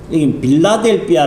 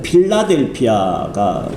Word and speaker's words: 필라델피아: 번째 교회는 어디예요 필라델피아여 빌라델피아 돼 있는데 원래는 필라델피아가 정확한 발음인데이 필라라인 뜻인데 필레아 하고 어